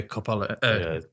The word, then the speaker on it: Coppola: Sofia Coppola. Sorry, I can't pronounce her name. Coppola.